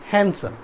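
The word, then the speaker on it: handsome: गलत है, ठीक है, फोनेटिक्स के आधार पर ये गलत है, इसलिए हम ये क्या करेंगे, यहाँ पर डी को साइलेंट कर देंगे, हैंडसम।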